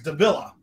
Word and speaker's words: Davila: is Mr uh Topher I always get his last name wrong it's Davila it's tougher Davila I am on a